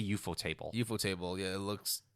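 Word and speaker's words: ufotable: give credits out later but well you're like eupo table right okay before that how the do you pronounce it is it eupo table UFO table eupo table eupo table it's what life's mystery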